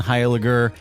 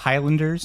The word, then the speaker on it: Heiliger: I get a lot of Highlanders and Heiligers.